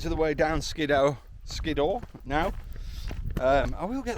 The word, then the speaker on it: Skiddaw: Skidor now. Um, I will get that right by the end of this video. So frustrating. Skidor. I don't know why I keep trying to say Skidtow.